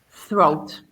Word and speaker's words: throat: Throat. Throat. So even though we have 2 vowels here, but we don't pronounce it like a diphthong. We don't say throat. We just say throat.